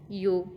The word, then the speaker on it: ewe: पापा, mama, RAM, यू। अच्छा, इसकी EWE जो है ना, इसमें इसकी जो सही प्रोनाउंसिएशन है वो यू है, YOO।